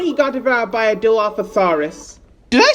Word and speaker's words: Dilophosaurus: Jurassic Park, but he got devoured by a Dilophosaurus. Did I say it right? Dilophosaurus?